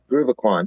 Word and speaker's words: Groovacon: Let's talk about, and tell me if I'm pronouncing this wrong, Groovacon. Groovacon, yeah, that's pretty good.